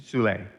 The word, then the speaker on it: Soule: And then the second one, I think, had more to do with, I had an amazing advisor, a guy named Michael Soule, who was like the father of conservation biology.